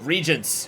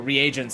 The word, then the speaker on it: reagent: Okay, so um some things to note regents or reagents. I got I got How do you say this word? It is reagent.